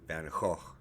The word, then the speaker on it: Van Gogh: I know that in Dutch, his last name is pronounced something more like Van Gogh. So I'll say that up front. But I'm going to go ahead and go by the American pronunciation. It's familiar even though it's wrong.